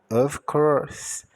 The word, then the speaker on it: of course: Então, o O com o som de O, o F de V, o C de K, o O de O é mudo, o R de R, o S de S, o E de E. Então, of course.